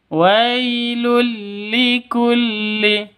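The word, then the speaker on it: وَيْلٌ لِكُلِّ: Yang betul wailul likulli. Di sini ada tanwin bertemu dengan lam. Cara bacanya masuk ke lam yang kedua tanpa dengung. Jadi bacanya langsung masuk terus disambung.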